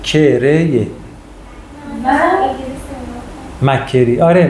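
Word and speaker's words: McCrae: توضیح میدیم میریم جلو زر ز استاد ببخشید تلفظش مکه کری مک مک مک مثلست میگن کریا کری ک کرریه انگلیس مکری آره مکری و کاستا بچه‌ها امروز ما نمی‌خوایم در مورد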